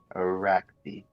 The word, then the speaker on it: Arachne: Arakvi. Arachne. Okay. Yeah, like the spider.